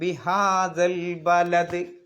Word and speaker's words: بهذا البلد: ലാ ഉഖ്സിമു ബിഹാദൽ ബലദ്. ദാ എന്നുള്ള നീട്ടാനുള്ള അലിഫിന് ഉച്ചാരണമല്ല, ഈ അലിഫിന് ഉച്ചാരണമല്ല.